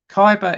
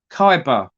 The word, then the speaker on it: Khyber: by the kyber pass Kaiba is spelled k h y b e r Kaiba or hyber hyper past